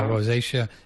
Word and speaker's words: rosacea: say the r a c um rosacea yeah rosacea using nasin with a far end fored sauna